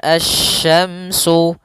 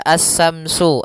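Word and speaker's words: الشَّمْسُ: Pada lafal asy-syamsu, di sini ada alif lam syamsiyah, yaitu alif lam yang ditulis tapi tidak dibaca, sehingga bacaannya langsung ke huruf shin. Nah, kemudian kita juga harus hati-hati dalam pelafalan huruf shin. Jangan dibaca as-samsu, as-samsu wal qamaru, bukan. Atau juga as-samsu dengan sa, bukan.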